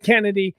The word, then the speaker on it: Chennedy: the Bench okay so apparently she pronounces it Kennedy she just spells it with a CH I am going to continue to call her chennedy Carter because that's a